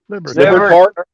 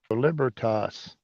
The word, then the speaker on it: Libertas: Libertart? No, Libertas.